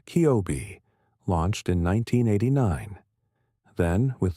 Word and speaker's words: COBE: Scientists have mapped these fluctuations with extraordinary precision, first with the COBE satellite, pronounced Kiobe, launched in 1989, then